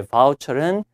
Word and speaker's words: voucher: 자, voucher입니다. 발음이. 뭐, VUCO 이렇게 하면 안 돼요. 예, voucher은 일종의 이제 쿠폰이에요.